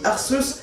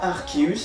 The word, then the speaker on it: Arceus: l'origine art ce oui je dis ars et je vous en remercie pas arceus la prononciation m'en fiche surtout si c'est toi qui